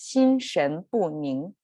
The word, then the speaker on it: 心神不宁: it so um all together this phrase is pronounced as shin shen bun and there are some big words in this